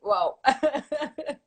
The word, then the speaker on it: WAW: It's a WoW. I hesitated between the WoW and the WoW, the American way of saying WoW, and I thought I wanted a French touch, so I said WoW with the A.